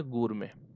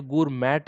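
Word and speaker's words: gourmet: उस आदमी को हम बोलेंगे, बताइए, उस आदमी को हम बोलेंगे गूरमे। ठीक है, ये गूरमैट नहीं है, गूरमे है। ठीक है, ये टी साइलेंट है यहाँ पे, ये याद रखना आप, है ना।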